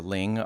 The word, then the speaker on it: Linh: and do some homework it seems like Lynn or Ling are both acceptable pronunciations of her first name but it sounds like the more Vietnamese content I'm watching sounds like Ling is kind of like the correct way so we saw Ling